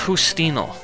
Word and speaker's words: Justino: It's pronounced Justino. That's the way to say my name in Spanish.